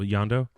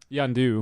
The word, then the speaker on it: Yondu: yonder yeah I've been messing up his name-o yonder yondu yondu I don't know why I've been messing